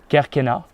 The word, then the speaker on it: Kerkennah: So in French I would pronounce it Kerkennah. I wouldn't pronounce it in Arabic because I don't speak Arabic, obviously.